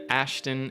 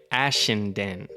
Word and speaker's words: Ashenden: Directed by Tom Kingsley, written by Colin Trevoro, Derek Connelly, Ben Ashton, and Alexander Owen. Shout out. I think I pronounced his name wrong. Ben Ashenden. Ashenden. There you go.